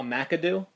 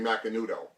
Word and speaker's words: Macanudo: Is that cigar a macadoo? You mean macanudo?